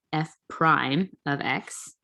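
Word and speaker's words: f′(x): apostrophe of x so this is said f prime of x is how we say this notation f prime of x so that apostrophe uh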